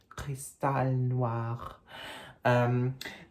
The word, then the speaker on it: Crystal Noir: in the title, Versace Crystal Noir, Cristal Noir, or isn't that funny? Because the brand is Italian, but the name would suggest you should pronounce it in French, Cristal Noir.